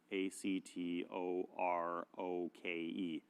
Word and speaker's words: Actoroke: and this is called Actoroki, And Actoroke, it's spelled Actoroke, Actoroke, but it's like Actoroke, like karaoke.